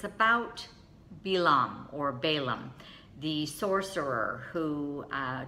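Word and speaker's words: בלעם: They divide his name, it's actually pronounced in Hebrew, Balaam, and Baal means no or not, and Am means people.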